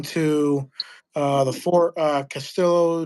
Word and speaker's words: Castillo: But I think that um the Castello or like the Marcos is probably one of the bigger ones or the biggest the L's the L's aren't pronounced. It's Castillo.